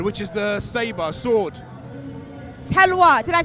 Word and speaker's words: talwar: Talwar, did I say it right? Talwar.